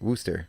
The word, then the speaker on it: Worcester: spelled Worchester but it's Worcester is how they pronounce it Wooster OH Ernest baked into the number 15 with